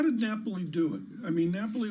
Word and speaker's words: Napoli: Is that how you pronounce it? Yeah. Napoli.